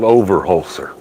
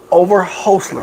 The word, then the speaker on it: Overholser: Okay, it's called Overholser. Overholser. Yep, four syllables, Overholser.